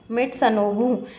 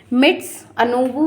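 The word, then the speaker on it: Mitsunobu: याद रखने में इ उसका नाम ही अजीब सा है मिट मिट सनबू तो मा मैं इसको माउंट माउंट आबू बोलती हूं माउंट आबू ऐसे थोड़ा सा याद रखने में इजी होता है स्पेलिंग में हमेशा याद रखती हूं एम आई टी एस यू एन ओ बी यू मिट्स अनब भी आप लोग याद रख सकते हैं माउंट बू भी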